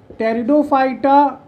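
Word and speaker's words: Pteridophyta: होगा ना कि टेरिडोफाइटा पी साइलेंट बेटा टेरिडोफाइटा मैं जिम यू स्पर्म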